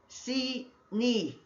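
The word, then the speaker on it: Sinim: As you could see on the right hand side, H5515 and H5513 pronounced C nim.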